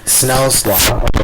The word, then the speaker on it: Snell's law: Is also known as Snell's law. That's how you're really supposed to pronounce it.